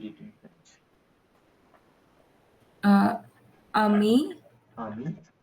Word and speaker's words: ami: Here, I have written AMI. You have to read it in French. Uh, Ami. Ami, right?